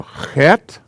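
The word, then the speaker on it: chet: g sound this is has a throat clearing sound like the word bach the composer guy and it's called a hat c-h-e-t hat this is a hay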